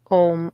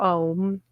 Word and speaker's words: Om: of creation is that om or that album song or song yes but literally a u m would be the pronunciation and the m is